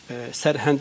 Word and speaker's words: Sirhind: Sirhind şu an bir şehirdir. Evet, anladım. Hindistan'da. Serhend diye de telaffuzu var.